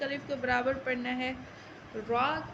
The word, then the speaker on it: را: کے برابر پڑھنا ہے۔ را کہیں پر پڑھا جاتا ہے، کہیں باریک پڑھا جاتا ہے، لیکن یہاں پر پڑھا جائے گا۔ آپ دیکھیں تو را کا تلفظ اصل میں تو پر ہی ہے، لیکن آپ آگے دیکھیں گے کہ جہاں را کے نیچے زبر آتا ہے وہاں ہم اس کو باریک پڑھتے ہیں، اور جہاں را پر